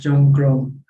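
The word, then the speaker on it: จงกรม: But in fact it's a misspelling. Instead of spelling with the Thai L, it's spelled with the Thai R. It's Chomgrom, which means walking meditation.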